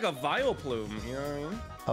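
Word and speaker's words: Vileplume: Oh, Sykuno, you look like a vile plume.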